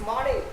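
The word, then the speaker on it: morning: सारे बच्चे good मॉर्निंग, हमें इसको मॉर्निंग को आर को साइलेंट करके बोलना है, we have to silent are. अगर आर को साइलेंट करके अगर आप बोलते हो तो इट्स मॉर्निंग, good मॉर्निंग, good मॉर्निंग, good मॉर्निंग, good मॉर्निंग।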